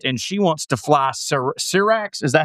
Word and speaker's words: Syrax: Back at Dragonstone, Rhaenyra is told ships are massing for the gullet, and she wants to fly Syrax. Is that how you say it? Yes. Syrax herself.